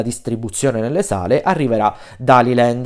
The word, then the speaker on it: Daliland: nelle sale arriverà da haliland o daliland non solo la pronuncia diciamo esatta dovrebbe essere tali Land cioè il nuovo film